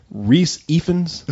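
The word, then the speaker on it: Rhys Ifans: Reese Ifans?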